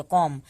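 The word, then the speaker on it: comb: दूसरा कहता है कि जब भी एम के बाद बी आए तो बी साइलेंट होता है, सिर्फ एम तक हम पढ़ेंगे। कॉम, बॉम, थम, डम।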